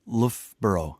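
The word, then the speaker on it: Loughborough: And Danny, what do you do when you need a break from Lofboro? Am I am I pronouncing that correctly? You you are indeed Lra.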